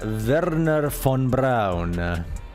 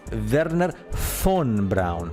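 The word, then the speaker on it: Wernher von Braun: the father of NASA Verner Fon Brown you must spell that correctly Verner F because the v in German in Germany in German sounds like an F so it's Verner fun Brown you know the guy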